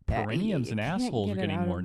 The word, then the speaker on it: perineum: I was like, I am saying it right. I am pronouncing it right. Perineum. That's how I say it. I know people say it slightly differently.